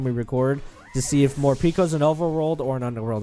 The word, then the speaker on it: Morpeko: How did you pronounce it? Morpeko? Yeah, it's Morpeko.